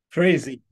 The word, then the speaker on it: Frazee: Is that the way you say it? Frazee. Okay. Yeah, Frazee. Rhymes with crazy.